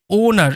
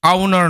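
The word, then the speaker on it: owner: এটা একটু দেখে রাখবে যে ওনার এরকম ভাবে হবে আউনার নয় কিন্তু অনেকে ভুল করে আওনার বলে ওনার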